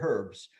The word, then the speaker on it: herbs: was bitter herbs bitter herbs depending how you pronounce the h or don't pronounce the h so the question is